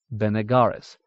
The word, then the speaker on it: Benegaris: Most names take emphasis on second to last syllable, Benegaris.